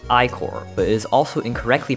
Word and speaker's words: Ichor: Iker is pronounced Icor, but it is also incorrectly pronounced Iker by many, including me when I first played the game.